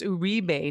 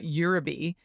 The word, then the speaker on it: Uribe: thank you Susan now the name urbe is pronounced that way not the way one of us said it before it's urbe not yube and thank you for